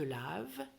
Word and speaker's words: laves: Je me lave, tu te laves, es is silent, il, elle, on se